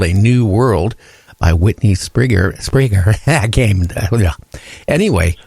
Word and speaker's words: Strieber: Yeah, and I said his last name wrong. It's Strieber. And it's... So Strieber, yeah, I'll get it right before he's on.